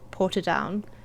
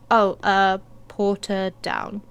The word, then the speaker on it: Portadown: from here, I said, Portadown. Because I couldn't remember the name I was thinking of, so I said Portadown. He's like, that's not how you say it. You say it like this. Porta.